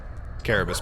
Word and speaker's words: Carabas: Carabas, by the way. This is not a soft C.